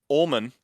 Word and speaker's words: Olman: um and like uh his name was olman or old man just pronounced weirdly ullman uh so mr ullman